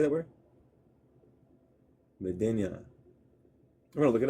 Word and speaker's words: Medina: The black person's village, the uh Median. Median. Median. How do you say that word? Medina.